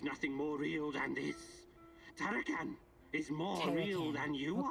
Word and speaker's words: Tarakan: Tarakan is more real than you okay, are.